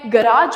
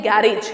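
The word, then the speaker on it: garage: वो नरेटर को बताता है कि मैं गराज में जाऊंगा। अब कई लोग बोलते हैं गैरेज, गैरेज नहीं होता, गराज इसकी प्रोनाउंसिएशन है।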